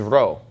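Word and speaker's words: ρ: symbol right here okay this is row so you don't want to get those two mixed up whenever you see this when you're reading Greek you need to get used to pronouncing this as an R sound and not as a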